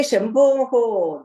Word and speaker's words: Shambho: That He Shambhoho, that is the pronunciation.